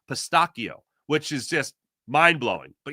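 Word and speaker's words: pistacchio: So much in fact that I learned in Italian it's actually pronounced pistakio which is just mind-blowing.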